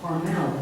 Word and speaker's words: Carmel: Scholars posit a couple of different meanings of the word Carmel, or Carmel, as it is pronounced in Hebrew.